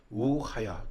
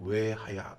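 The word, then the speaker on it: וְהָיָה: 원문인 히브리어의 첫 단어는 우하야 혹은 외하야 이렇게 발음이 되는데요.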